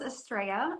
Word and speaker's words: Astrea: you all right Hi asria how are you good actually my name is pronounced estrea um and you're Danielle